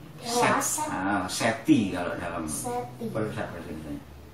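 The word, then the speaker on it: Seth: Seti kalau dalam Seti. bahasa Indonesia. Tapi tulisannya itu Set. S-E-T-H. Set. Jadi kira-kira bacanya ya agak ada desisnya begitu.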